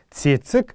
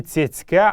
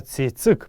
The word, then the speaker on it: цецик: Не «цецька», а именно «цецик», правильно это слово. О том, почему у нас сегодня во многих диалектах калмыцкого языка это слово произносится как «цецька», я уже неоднократно писал в интернете. Если вы заинтересуетесь, вы можете это найти в разных аккаунтах уже несколько лет подряд. Информация о том, почему калмыкам нет имени «цецик», этот материал есть. Правильное классическое произношение этого слова «цецик», а не «цецька».